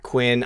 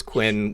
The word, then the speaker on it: chloroquine: Chloroquine? Quinn. I say queen usually, but everybody always says Quinn when they comment on the videos.